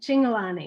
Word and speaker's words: Cingolani: we're here with single single all right pronounce it for me Lonnie single on e I see Lonnie okay perfect is that Italian